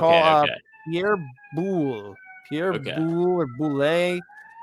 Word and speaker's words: Boulle: Pierre Ah, Boulle wrote wow. Boulet. Boulet is how you Okay.